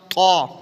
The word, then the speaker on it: طا: آتا ہے حروف مستعلیہ طا، اس کے اوپر مد نہیں ہے تو اس کو ہم نے لمبا نہیں کرنا، موٹا پڑھنا ہے۔ تا اور طا میں فرق ہے، تو یہ ہے طا طا۔ اس کے بعد حروف